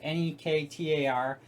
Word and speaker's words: Nektar: So we got this Nektar, I guess you'd pronounce it, Nektar, MIDI keyboard.